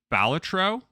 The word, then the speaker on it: Balatro: So without further ado, and these are just in alphabetical order, for Game of the Year, we have Astrobot, we have Balatro, I believe is how you say that.